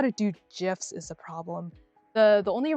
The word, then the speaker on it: GIF: GIFs. Yeah, I say it with okay. GIFs or GIFs. I know graphic begins with a hard G. But like I just say GIFs easier.